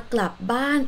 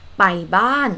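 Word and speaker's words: กลับบ้าน: it is not right so you have to say this word in stitch ban asked to go home or return home because the word club club means to return and ban ban means home therefore club ban is return home the common mistake that thai learners make is baiban which means go home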